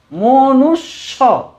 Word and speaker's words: মনুষ্য: মূর্ধন্যস্ব জফলা স, মনুষ্য, মনুষ্য, মনুষ্য। স দুবার উচ্চারণ করছি, মনুষ্য।